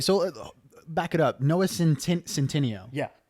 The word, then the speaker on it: Centineo: Noah Centineo. Yeah. Not Centano, not Centino. I mean, Santino. I'm not a pronunciation genius, but from the spelling, I am assuming Okay, it is Centineo.